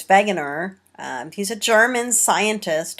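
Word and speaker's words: Wegener: name of Alfred begner I know it's spelled wager but it's vager um he's a German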